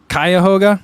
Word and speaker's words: Cuyahoga: suits you well uh Martha says Co it's pronounced Cuyahoga I used to live and work in Cleveland for the orchestra oh okay Kai Kaya hoga okay when she says Cuyahoga is from Family